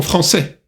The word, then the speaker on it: français: А «français» – это сначала носовой звук «en», а затем сочетание «а-и» читается «э». «Français».